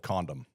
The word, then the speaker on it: Condom: 10 minutes away called Condom. Is that what you were going for? Yes. It's said exactly like it's spelled.